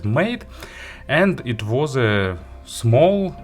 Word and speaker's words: M8: the hi-fi made or spelling m8 like letter and digit but of course it's supposed to be pronounced as made and it was a